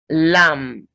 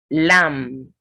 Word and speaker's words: lamb: Lamb. Lamb. Comb. Dumb. Womb. So when you have MB ending words, the B is silent.